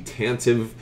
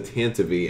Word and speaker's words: Tantive: it's not written phonetically everything from the Tantive to being that actually being pronounced the Tantivy and I have finally come around almost sometimes say Tantivy as opposed to Tantive but you know it's